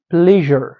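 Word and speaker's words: pleasure: همداسې موږ تاسو بل لرو دلته یو لغات ده پلیژر. چې تلفظ کیږي پلیژر. دا به ولې موږ تاسو پلیژر تلفظ کوو. دلته اس یو موږ تاسو ولې ژ تلفظ کوو ځکه چې له اس یو نه دی خواته موږ تاسو لرو غږ لرونکی توری.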